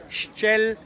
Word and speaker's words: Ixchel: This is Ixchel, the goddess of medicine and fertility. Every time you see the letter X and that word belongs